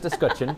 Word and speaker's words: escutcheon: pronunciation of that word i was pretty sure there was a heavy french accent going on there i was wrong it's just discussion uh yep but look